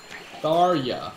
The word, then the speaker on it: Tharja: Tharya. Yeah, see? I didn't even know J could be pronounced like a Y, but I mean, in Shit, this is not good.